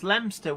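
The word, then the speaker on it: Leominster: know uh uh lemster there's lemster which is actually spelled Leo Minster um we love our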